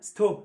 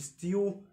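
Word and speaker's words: student: ستيودنتس ستيودنتس ستيودنتس اسمها اسمها ستو ستو مش ستيو مش ستيو يوتيوب ما اسمهوش يوتيوب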